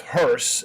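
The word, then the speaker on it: Höss: justice uh so one of them uh Rudolph hurse and that's how you pronounce his name it's not hos it's hurse ruolph Hur who was the comant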